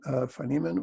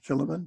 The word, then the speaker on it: Philemon: the book of philemon phanemen or philomen depending on how you pronounce it both ways are fine paul writes i am